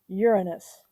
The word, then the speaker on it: Uranus: it's the seventh planet uranus and we do say it like that because otherwise there are so many jokes um we know most